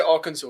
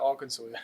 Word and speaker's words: Arkansas: Kansas, but they say Arkansas. It's pronounced Arkansas.